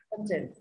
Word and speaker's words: content: thì cái chữ o này phát âm là content. Thì trọng âm rơi vào tiết nào?